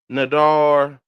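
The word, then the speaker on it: נדר: The vow was the Nadar, the Nadar, they pronounced it N-D-R, Noon, Dalet, Resh, right?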